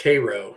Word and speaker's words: Cairo: Cairo Illinois is pronounced Cairo not like the city in Egypt oh there you go